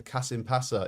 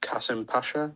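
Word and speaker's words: Kasımpaşa: to milan and danny drinkwater has gone to kasim passa in turkey i notice you've got a turkish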